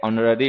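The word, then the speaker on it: honorary: Honest है, आवर है, एयर है, ऑनररी है, ऑनरेबल है, इनके साथ में एन का यूज क्या करो, क्योंकि एच इन में साइलेंट होता है, ठीक है।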